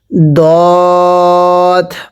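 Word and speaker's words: ض: এরপরে দত, পড়ুন সৎ। এরপরে দত, এটা দত, এই দদের উপরে এক নোক্তা। অনেকেই দতকে দাল পড়ি, দাল পড়া যাবে না, এটার উচ্চারণটা আমার সাথে পড়বেন।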